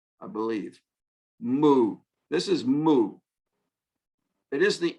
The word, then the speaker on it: mu: This is mu. It is the M sound in Greek, but we call this letter mu, and we spell it M-U, mu.